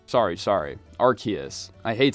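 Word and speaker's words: Arceus: literal creator of CNO RC s sorry sorry arus I hate saying it that way but I guess it's the correct pronunciation anyway in order to see this glitch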